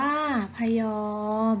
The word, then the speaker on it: พะยอม: พะยอม อ่าน ว่า พยอม ฮะ โม้ อ่าน ว่า